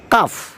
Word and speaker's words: calf: ফক, FOLK, ফক, FALK, ফক, উচ্চারণ হবে ফক। কাফ, CALF, কাফ, CALF, কাফ।